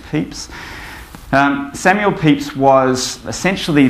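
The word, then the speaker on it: Pepys: Diary of Samuel peeps I've been told from a historian that they correct way of pronouncing that is peeps um Samuel peeps was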